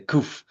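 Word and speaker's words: קוף: the Hebrew letter for this month is a kuf. Sometimes they pronounce it, you know, the kof, but we we in the Judaism say kof and a kof in in Jewish thought it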